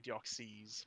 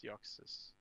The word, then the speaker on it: Deoxys: or an i or probably deoxys but it's dioxis it's like system you're just taking the x sound and doing it that way i've heard uh